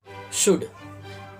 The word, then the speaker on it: should: शुड, SHOULT, ये spelling जिसमें L लिखा जाता है पर बोला नहीं जाता क्योंकि L साइलेंट है।